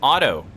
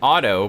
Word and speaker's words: Oto: I pronounce it Otto, but I suppose it could be like Odo. It is, I mean, it's spelled different than Otto. It's O-T-O. Oto.